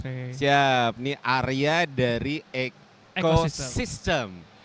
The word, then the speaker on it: Ecoxyztem: Siap, ini Arya dari Ecosystem. Ecosystem itu kalau teman-teman mau follow Instagramnya boleh, karena bukan ekosistem biasa ya, ekosistem dengan spelling yang beda.